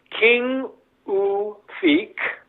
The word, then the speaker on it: Qinngorpaatit: That second word, pashlashlugu, is tricky to do because it's that pronunciation that's not in the Greenlandic language, and nufashlashlugu. So really slow. Qinngorpaatit, first word.